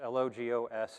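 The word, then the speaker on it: λόγος: here the greek word for that is logos l-o-g-o-s is how that would be written in english it's pronounced logos and it actually translates to meaning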